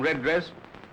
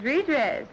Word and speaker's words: redress: The name of that horse is Redress, Nick. Oh, okay. I put the emphasis on the wrong syllable, eh?